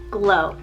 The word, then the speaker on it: Glo: G is extremely hard for me to find a name that's kind of unique sounding, but I love the name Glow, spelled G-L-O. Glow.